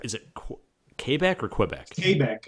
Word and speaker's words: Quebec: Quebec, like Quebec. K-A-B-E-K.